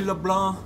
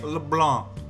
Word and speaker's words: Leblanc: don't talk about that cafe la blah la blah that's the right way to say it okay please intellectuals only say LeBlanc okay LeBlanc don't come at me with that let's do it Lee plank